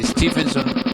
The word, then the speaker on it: Stephenson: one introduced by George Stephenson you can say Stevenson Stevenson or Stevenson okay both pronunciations are correct well as I said